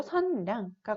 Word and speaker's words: 선량: 우리가 배운 것 중에 예시를 보면은 남녀, 그리고 선량과 같은 경우에는 각각 니은과 리을이 들어가 있지만 단어의 두음이 아니기 때문에 두음 법칙이 적용되지 않아서 각각 여, 양으로 발음하고 쓰는 게 아니라 려, 량으로 표기하고 발음하게 됩니다.